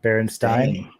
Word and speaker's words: Berenstain: Berenstain. Exactly. We don't even know. Steen is the Mandela effect. That never existed. Yeah, it's supposed to be Berenstain or whatever it is, but who knows?